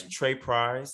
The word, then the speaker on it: Tr3prise: I don't want to repeat your name and spell it. It's Trey Price, so TR3PRISE.